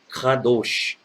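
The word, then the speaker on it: קדוש: Então, a pronúncia correta seria kadosh, kadosh, kadosh, ou não o, kadosh. No hebraico não tem E aberto nem O aberto, então é kadosh. Então, vamos lá.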